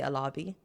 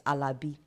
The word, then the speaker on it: Alabi: Nigerian accent so yes even my name I'm not supposed to say alabi it's alabi alabi yes is